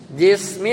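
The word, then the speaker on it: جِسْمِ: Nazafah mudhaf, jismin mudhaf ilaih, wa huwa mudhaf. Dia jadi mudhaf lagi. Berarti enggak boleh pakai tanwin. Jadi bacanya jismi ya, bukan jismin.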